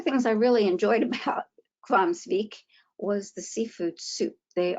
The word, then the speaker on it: Hvammsvík: It's another very difficult name to pronounce, and I did learn how to pronounce this one. It's called Hvammsvík Hot Springs.